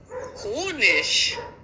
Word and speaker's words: Honig: Zug großartig großartig großartig Honig. Wenn ein Wort auf I G, also ich endet, dann spricht man das normalerweise wie ich aus.